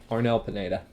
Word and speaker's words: Arnel Pineda: Arnel Pineda.